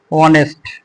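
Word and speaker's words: honest: বিষয়টা হচ্ছে এখানে যে এইচ এর যে উচ্চারণটা এখানে কিন্তু এইচ উচ্চারণ হচ্ছে না এটা হচ্ছে কি অনেস্ট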